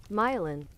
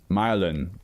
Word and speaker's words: myelin: Pronunciation. Myelin. Myelin.